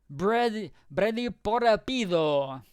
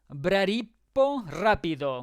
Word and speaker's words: Bradipo Rapido: Brady Porapido. There it is. He usually appears in... this is the one that also means... No, I pronounced that wrong. It is Bradipo Rapido.